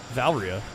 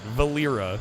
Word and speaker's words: Valera: Valeria. Is it Valeria? I don't know. Valera? See, it looks like Valeria to me. Alright, Valera. It's 3 syllables.